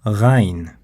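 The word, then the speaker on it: غ: lot of letters require the throat to pronounce them, and the next ones are of no exception. These are ayn and ghayn, two distinct sounds in Arabic.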